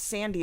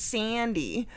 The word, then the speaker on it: Sandy: It's not Sandy, it's Sandy. Like, it's in the vowel. It's just a little more nasally and a little longer.